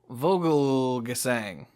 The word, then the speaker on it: Vogelgesang: Wow, there's an extra syllable there that I did not expect. Clayton Vogelgesang.